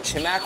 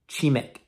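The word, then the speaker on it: 치맥: They actually have a word for it called chimak, which is literally chicken and beer combined. Guys, I just realized I absolutely butchered the pronunciation. It's actually pronounced chimek.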